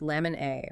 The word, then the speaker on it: LMNA: Specifically, it's a point mutation in the LMA gene pronounced lemon A, which is located on chromosome 1q22.